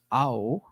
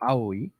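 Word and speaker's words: 青: the character in question, which is pronounced ao, ao or aoi in Japanese, is kind of blue-green.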